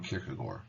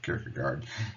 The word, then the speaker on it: Kierkegaard: Existentialism's founder, in many ways, is Soren Kierkegaard, or Kierkegaard, if you prefer the common English pronunciation.